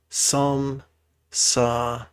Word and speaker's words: samsara: you feel aggressive, is the 3-syllable word, samsara.